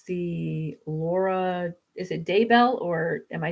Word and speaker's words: Daybell: So it is Daybell then.